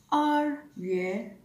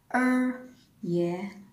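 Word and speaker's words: 二月: February is R Yue, R Yue. Or pwede nyo rin siyang ipronounce ng Er Yue, Er Yue.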